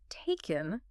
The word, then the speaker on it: taken: And for the past participle taken, the stress is on the first syllable.